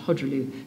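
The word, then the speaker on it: Khojaly: brings out every year called it's spelled Kali pronounce hodu the hodu tragedy there currently an e e EDM up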